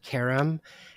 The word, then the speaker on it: Keram: My name's Keram. It's pronounced Karam.